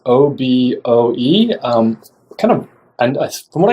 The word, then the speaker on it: Oboe: it's funny about the pronunciation so the correct pronunciation is oboe as in after after the musical instrument oboe